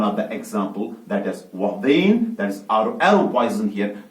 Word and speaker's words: ouabain: Is pronounced as Ouabain. It is Ouabain.